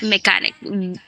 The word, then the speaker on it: mechanic: mecánico en este caso no se pronuncia como chat que se escribe mechanic en Pero es arquitect en mecanic have some of then